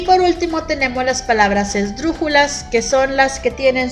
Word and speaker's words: esdrújula: esdrújula es el brújula si se dice esdrújula si después de sonido fuerte que es el drum sigue la sílaba jo y la porque entonces quiere decir que la tercera ola antepenúltima es la que suena fuerte vamos a ver más